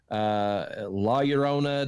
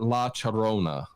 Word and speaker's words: La Llorona: So I guess it's like the local pronunciation of the LL is what I looked up and saw. But it was interesting every time I heard it because I kept expecting the ya and it was cha.